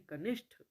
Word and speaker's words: कनिष्ठ: कनिष्ठ नहीं कनिष्ठ। आंशिक, आंशिक, खंबा, खंभा, है ना। तो ये उच्चारण संबंधी त्रुटि पहले होती है और उसके बाद वो लिखने वाली अशुद्धि होती है।